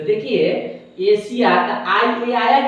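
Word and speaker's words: Asia: सबसे पहला नंबर पर क्या लिखा हुआ है एशिया ए एस आई एशिया एशिया जो है एशिया महाद्वीप है और उसके बाद में आगे जो लिखा हुआ है रशिया तो देखिए एशिया आई आया की नहीं यहां पर लास्ट में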